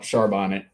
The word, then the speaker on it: Charbonnet: that somewhere out there someone pronounces his name Char Bonnet I'll take that there exactly charbonne I'm sorry who yeah that there's that charbot he he's the same guy who orders A Philip mignon oh yeah I mean